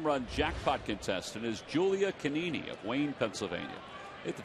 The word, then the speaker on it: Canini: And Julia, we're just assuming that the G is silent. We apologize if it's not. That's a good way to pronounce an Italian name.